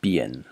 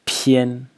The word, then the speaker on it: 扁: So the title phonetic character in the entire series is pronounced bian.